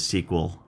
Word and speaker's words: SQL: Also, SQL is oftentimes pronounced as SQL.